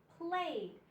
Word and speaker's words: played: Now with this one, the E doesn't make a sound. The E is silent. You don't hear it. You only hear the D, D, D in played.